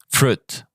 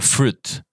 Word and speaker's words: fruit: Oh, and also fruit. So fruit.